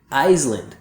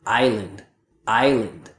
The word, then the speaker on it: island: Iceland. But a native speaker doesn't pronounce the S. Instead, we say it like this. Island.